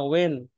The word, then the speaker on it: when: কখন when ওয়েন, when হ্যাঁ, হয় না ওয়েন, মানে এই এইচটা উচ্চারণ করা যাবে না, ঠিক আছে?